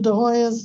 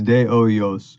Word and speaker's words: Hoyos: De Hoya's, if I take, it's De Hoya, right? I don't pronounce the S. It's de Oyos, Oyo.